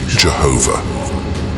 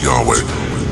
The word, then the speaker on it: Yahweh: and 10th centuries ad removed the original vowels from the tetragramaton replacing them with those of adoni leading to the incorrect pronunciation Jehovah does this mean that